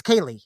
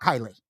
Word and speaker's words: Kaylee: First of all, ladies, it's Kaylee, not Kylie.